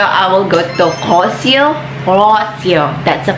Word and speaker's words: Rossio: Rossio, that's a pronunciation for that.